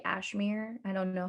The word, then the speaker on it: Ashmere: and often and often i just say my name's like cashmere without the k because it i feel like it's it's spelled out that you could say ashmir i don't know how